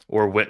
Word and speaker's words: Whit: Well, it's spelled W-H-I-T, but Witt and Trey Turner are also at the same position.